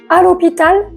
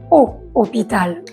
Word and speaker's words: à l'hôpital: on dit nous allons à l'hôpital ou nous allons au hôpital on dit nous allons à l'hôpital oui hôpital est bien